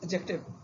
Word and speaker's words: adjective: It is adjective. D is silent as it is judge or in dodge.